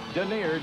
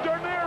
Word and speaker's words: Dernier: Look at Dernier run. Holy cow. I'd like to have $2 on his nose. Dernier, which rhymes with deer, means last in France.